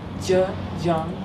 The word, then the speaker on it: Zhejiang: So how do you pronounce it? Zhejiang. Zhejiang.